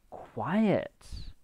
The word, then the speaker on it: quiet: which is different from quiet okay look at this um now quiet this one here has two syllables and this one has one syllable okay listen to the